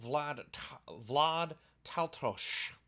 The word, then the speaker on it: Vlad Taltos: In this video, we're actually going to be talking about Jhereg by Stephen Brust, the first book in the Vlad Taltos series, which apparently is how you pronounce all of those things.